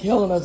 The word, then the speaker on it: Helena: Helena's how you say it. H-E-L, it's like Helen with an E.